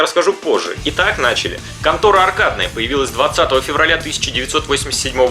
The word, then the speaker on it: 魂斗羅: Японское название, как я уже говорил, звучит как контора.